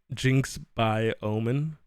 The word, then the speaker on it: JinxXOmen: It's supposed to be pronounced JinxXOmen. And whenever I play video